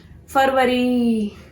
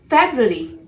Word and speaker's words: February: Next word है, बहुत commonly mistakes करते हैं लोग इस word को pronounce करने के लिए. फरवरी. फरवरी नहीं होता है. You have to pronounce this word as February.